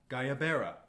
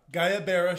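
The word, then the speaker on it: guayabera: How do you pronounce? And then I will copy and paste that in. Gayabera. Gayabera shirts.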